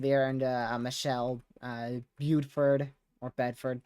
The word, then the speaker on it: Bedford: Michelle uh Buford or Bedford Buford is how we say it here Williams I guess it's